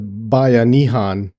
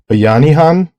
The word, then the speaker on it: bayanihan: bayani which means hero I mentioned the concept of bayanan in a prior episode and I wasn't sure if I was pronouncing it right and I didn't I'm hoping I pronounce it right is bayanihan B bayanihan um is